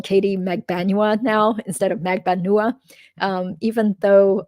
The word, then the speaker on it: Magbanua: megbanua now instead of magbanua um even though according to my filipino-american relative the correct pronunciation is almost certainly megbanua yesterday during the interview